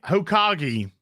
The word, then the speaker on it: Hokage: Hokage, somebody says. It's the The Black Hokage. That's how you pronounce it.